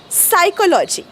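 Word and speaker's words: psychology: cartoon मध्ये वगैरे असतो हा यांची स्पेलिंग ना पीने का सुरू होतीय जर बोलायचच नाहीय पी तर या पी च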